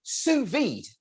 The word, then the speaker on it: sous vide: let's get started um sous vide is in fact how it's pronounced it's french for under vacuum and today we're talking